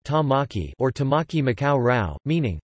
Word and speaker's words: Tāmaki: The Maori language name for Auckland is Tamaki, pronounced Tamaki or Tamaki Makau Rau,